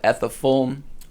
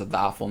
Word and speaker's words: Ethafulm: Again, my music project is called Ethafulm, or Athafulm. I'm trying to pronounce it as Athafulm now because I think it sounds cooler. But it's ETHAFULM.